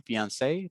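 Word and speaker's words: fiancé: just like we said it's exactly the same fiance for both of them but um yeah for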